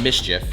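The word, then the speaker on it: MSCHF: Right here we have the, I guess it's called Mischief. It's spelled M-S-C-H-F, and Lil Nas X, the shoes.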